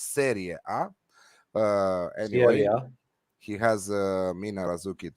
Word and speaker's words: Serie A: Remaining in Serie A, how Flash loves to say it, Serie A, but it's Serie A.